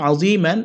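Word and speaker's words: عظيما: মিম আলিফ দি সাবুর মান আযীমান, আমরা এখানে অকফ করবো, মিমে এক আলিফ টানবো, উচ্চারণ হবে আযীমা।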